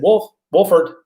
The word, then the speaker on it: Wolford: And he said, Wolford. There's an L. You say the L.